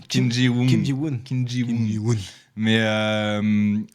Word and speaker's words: Kim Ji-woon: Non, mais j'arrive jamais à le prononcer. Mais oui, c'est. Kim Ji-woon. Kim Ji-woon.